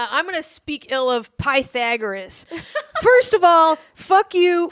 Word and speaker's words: Pythagoras: All right, and I'm gonna speak ill of Pythagoras.